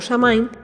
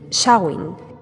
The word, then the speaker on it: Samhain: Bueno, yo lo he pronunciado como Samain porque es como normalmente se suele pronunciar aquí en España, especialmente en la zona de Galicia, aunque su pronunciación inglesa correcta es Samhain, que significa el final del verano.